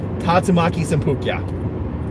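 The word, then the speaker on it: 竜巻旋風脚: the hurricane kick I actually know it's correct pronunciation tatsumaki senpukyaku there was another voice actor I'd like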